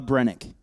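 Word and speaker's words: Brenneke: yeah yeah yeah uh brennick okay yeah so the E is silent on the end got it I should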